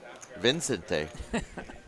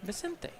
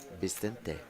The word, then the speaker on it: Vicente: Vicente. Yeah. And you got to make your V sound like a B. That's right. Bente.